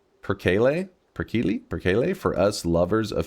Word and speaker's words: perkele: Perkele? Perkele? Perkele. Gotta roll the R.